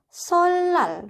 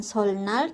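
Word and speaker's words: 설날: Jadinya di sini bacanya adalah solal, bukan solnal tapi solal.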